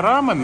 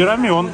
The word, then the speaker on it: рамен: кто-то писал в комментарии рамён правильно называть на самом деле правильно Рамен но есть и рамён тоже китайских иероглифов мянь